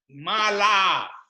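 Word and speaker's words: mālā: this is long A. Right, and then when it's malaham, Mala.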